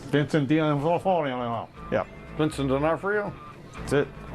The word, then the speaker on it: D'Onofrio: Ovafio. Whatever. I can't pronounce it. Vincent D'Onofrio.